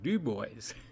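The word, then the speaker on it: Dubois: oh this place in in Wyoming called uh dubb boys and it's pron it's spelled Duo but it's pronounced duboys you better not screw it up when you're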